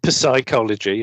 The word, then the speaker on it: psychology: of himself expert on psychology or whatever they call it yes that's one of those words with the silent P isn't it yeah yes